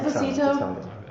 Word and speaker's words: Esposito: Yes, yeah, it's Esposito. Italian.